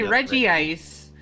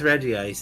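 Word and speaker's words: Regice: the word ice they say reggie ice but it's reggi it is reggi ice it's just it looks weird so people say it bad on purpose cuz they think it's funny like it would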